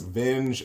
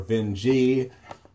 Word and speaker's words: Vinge: Banks, and then A Fire Upon the Deep by Werner Ving is how I pronounced it, but I've heard 2 other pronunciations of his last name. It's Vinge or Vingy, so I don't know.